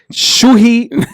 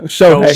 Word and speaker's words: Shohei: Giannis Antetokounmpo, Tom Brady, Canelo Alvarez, Jake Paul, Jonquel Jones of the WNBA, and Shuhei Otani. No, Shohei. Shohei Otani. I always get his first name wrong.